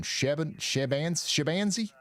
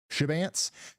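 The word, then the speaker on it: Chebanse: Shabanzi? Is it Shabanzi or Shabance? Shabance? Heyo, I nailed it again, son.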